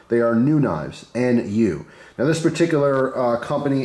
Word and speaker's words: NuKnives: So today we're looking at a new brand called literally New Knives, right? It's spelled N-U-K-N-I-V-E-S.